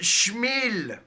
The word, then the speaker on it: Small: hockey, Artis Small. It is pronounced Schmil.